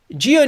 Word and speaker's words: Dyo: it's written DUI oh that's that's how you pronounce my last name geo news the most important name in the news